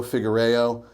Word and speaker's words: Figuereo: We are real people with passions, including this gentleman here himself, a true professional, Figuereo. Did I pronounce that okay?